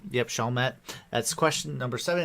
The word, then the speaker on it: Chalmette: their armed support during a historic event at shalma plantation i said it wrong yep chalmette that's question number seven it's lafittes yeah and